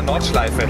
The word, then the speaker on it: Nordschleife: How do you pronounce it? Nordschleife? Ah, Nordschleife.